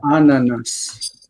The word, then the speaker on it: ananas: um it's funny that so she says in French it's an like they don't see the S but in Hebrew we say the S ananas anas um strawberry